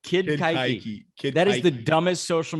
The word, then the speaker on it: Keuchel: Kid Coochie carved up the Red Sox the other day. Kid Keuchel. Say it right. Kid Keuchel.